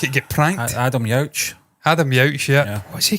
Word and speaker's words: Adam Yauch: Adam Yauch. Yeah. What's he called again? Jesus. I don't even know if I'm saying that wrong. Yeah. No, you're definitely saying it right, Stephen.